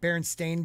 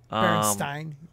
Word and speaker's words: Berenstain: Berenstain. Well, you guys are Australian. Because E-I-N is like Stein, like Einstein.